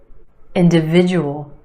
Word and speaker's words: individual: Individual, individual. Five syllables in this word. Emphasis on the third syllable, the I sound. Individual. Individual. The second syllable is where you have the schwa. D individual. Individual.